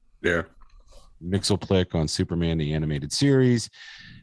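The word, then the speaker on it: Mxyzptlk: he brought character to everything he was mr mixel plick is how you say his name yeah mixel click on superman the animated series uh just did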